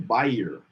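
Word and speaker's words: bier: how to pronounce it because i believe i'm pronouncing it wrong biennial buyer buyer the frame of which a coffin or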